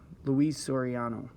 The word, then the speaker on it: Luis Soriano: helps you actually with the pronunciation guide right there lou east sorry soriano luis soriano so that's what they